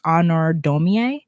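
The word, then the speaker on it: Honoré Daumier: And I also heard about another artist whose name is spelled weird, but it's pronounced Honor Domier.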